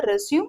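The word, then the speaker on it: résumé: இதோட ப்ரொனன்சியேஷன் பாருங்க, ரெஸ்யூம். இது வந்து verb, கண்டினியூ ஆகுது அப்படின்னு அர்த்தம். புரியுதா? The school will ரெஸ்யூம் after lunch அப்படின்னா. இதே பாருங்க, ரெஸ்யூமே அப்படின்னு நம்ம ப்ரொனவுன்ஸ் பண்ணோம்னா இதோட இது வந்து நவுன் அப்படின்னு அர்த்தம்.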